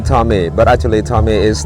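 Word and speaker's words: Thong: and I just say my name's Tom t h o n g which mean a a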